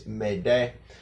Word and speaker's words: m'aider: So it's "m'aider" and of course remember in French, a lot of times the last letter or the last syllable is sometimes silent.